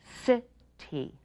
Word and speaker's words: city: like in three a city city the C sounds like s because it's followed by I and the y sounds like long e because it's not the only vowel in the word now it's our turn